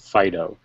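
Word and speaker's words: Phideaux: and a band called fido um spelled p h i d e a u x what he goes you pronounce it fido as in the dog um i just was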